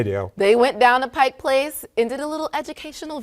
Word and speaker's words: Pike Place: Pike Place Market yeah do you call it Pike Place or Pikes I know how to say it okay I know I'm a transplant I moved up here from Southern California a couple years ago but I've always said Pike Place but it's an ongoing debate on social media not even a debate people just say it wrong they do all the time they say Pikes if they say Pikes